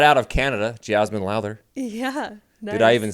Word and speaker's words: Jazmine Lowther: And right out of Canada, Jazmine Lowther.